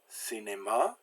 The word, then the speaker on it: cinéma: So we have certain, cinéma, cylindre. All those C's make the S sound.